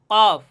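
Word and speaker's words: ك: কাফ হরফটি উচ্চারণের স্থান হচছে তার থেকে একটু সামনে আগাইয়া কফের স্থান থেকে একটু সামনে আগাইয়া তথা এই জিহ্বার গোড়া থেকে একটু সামনে আগাইয়া কাফ উচ্চারণ করলে আপনারা বুঝতে পারবেন যে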